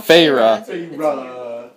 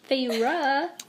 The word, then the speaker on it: Feyre: How do you pronounce her name again? Feyre. Feyre.